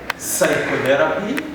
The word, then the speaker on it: psychotherapy: letter is p whereby the p is not pronounced every time we are saying these words the first word is psychology psychology we talk about a disease known as pneumonia pneumonia then we say pseudo we talk about psychiatrists psychotherapy psychotherapy psychotic then you talk about